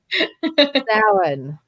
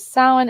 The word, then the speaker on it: Samhain: And every time I see the next one, number 8, I always say it in my head exactly as I read it, but it's not how it's said. Samhain.